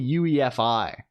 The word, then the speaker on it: UEFI: was pronounced this way I'm probably saying it wrong it's probably UEFI I'm just saying wey because it's kind of funny to say that way hello GS too hi